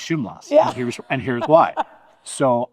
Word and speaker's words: Szumlas: So I've gone with SH, but some people say it's SZ, like a hard Z, like Szumlas. I've always kind of said Szumlas, but I don't know.